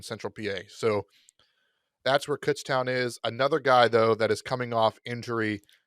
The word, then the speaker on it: Kutztown: And it's pronounced Kutztown. I hope anybody out there heard that, because everyone says Kutztown. It drives us nuts.